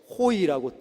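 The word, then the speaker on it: οἱ: 뒤에 오하고 아이가 있죠. 호이라고 읽습니다.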